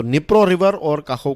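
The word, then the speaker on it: Dnipro: का नाम है निप्रो इसका स्पेलिंग होता है निप्रो लेकिन इसको निप्रो प्रोनाउंस करते हैं दी जो है वो साइलेंट राहत है और कहो का दम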